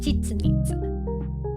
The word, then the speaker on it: Chichen Itza: Chichen Itza. That's it, Chichen Itza.